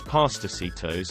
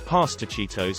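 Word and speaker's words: pastorcitos: American Carol called vamos Pastor sito's and there was debate between him about the pronunciation of the C I said the soft C is pronounced like an S an old lady in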